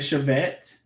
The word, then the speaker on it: Chevette: You said Chevette? Chevette. Yeah. Savette. Yeah, like SHAV, like. Oh, Chevette. Okay, I said it right the first time.